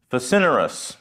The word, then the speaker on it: facinorous: I think I said it right, because I looked up how to pronounce it. Facinerous. To me, it looks like facinorous, but it means extremely evil.